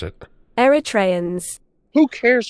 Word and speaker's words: Eritrean: what Here's how the British pronounce it. Eritreans. Who cares how the British pronounce it? Yeah, I was totally right. Eritreans.